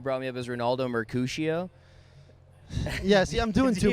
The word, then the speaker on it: Mercado: Did I pronounce your last name right? You got it. It's deceptively a very easy last name to pronounce. Nobody remembers. Dude, I want to just roll the R with it.